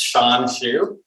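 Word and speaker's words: Hsuan Hsu: not sending you a guide to pronouncing my name it's sean chu um i'd like to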